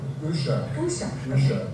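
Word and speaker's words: Uşak: tag and I don't even know how to pronounce is it ushach which is in Turkey.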